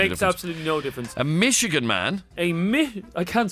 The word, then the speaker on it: Michigan: Michigan is how you pronounce the place, not Michigan.